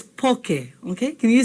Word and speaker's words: poke: some limu sometimes they put soyu but it's poke okay can you say that with me okay